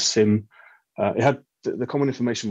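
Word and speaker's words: CIM: So back in the days of PowerShell V3, the common information model, which I always used to sort of pronounce as KIM, but maybe it's SIM.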